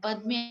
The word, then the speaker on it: Padme: And Padme again, Pad Me, two-syllable.